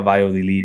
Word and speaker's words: Valladolid: Vi- The double L's is a Y. yeah. Valladolid.